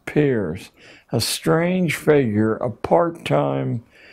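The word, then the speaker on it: Peirce: has produced he was it's pronounced peers but it's spelled as if it were Pierce Charles S Pierce a strange figure a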